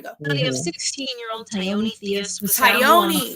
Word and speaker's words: Tioni: It's Tioni.